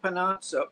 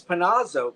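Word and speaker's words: Panozzo: And I should add that Chuck Pano, Chuck Panazo, sorry to pronounce it correctly. It is Panazo because I was watching last time I checked it was I think I've been saying Panno, but it's Panazo.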